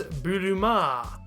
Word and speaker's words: Buruma: others who noticed that some but not all Japanese spellings of Boomers extend the final vowel sound so that it reads buruma a long ah sound at the end of the word is often used as a substitute for our ending ER which you can see